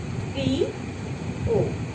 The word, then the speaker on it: প্রিয়: যেমন প্রিয়, এর আগে রশ্মি, অয়ের সঙ্গে রশ্মি আছে এবং সংযুক্ত ধ্বনি অবস্থিত আছে, এখানে রফলা যুক্ত আছে, তাহলে এটাই হয়ে যাবে প্রি ও।